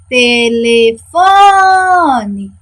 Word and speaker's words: telefone: Telefone. Quem é a sílaba tônica? Isso, o fó. Ó, telefone. Então, fó é a nossa sílaba tônica.